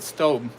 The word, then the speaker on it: Staub: Cast Iron Chaos says on their own website, Staub pronounced it Stobe. Okay, I always say Staub or Stobe, but it's always a hit and miss.